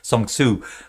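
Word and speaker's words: Sun Tzu: figure out what i'm saying when i say song tsu but that's how it's spelled but why do i mention this is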